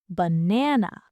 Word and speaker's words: banana: Look at the word banana. It has three a's. Do we say ba? No, we stress the middle one. The first a becomes awah b. The last a becomes awah. N. We say banana.